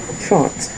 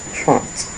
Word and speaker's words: trente: Trente. Not Trent. Trente.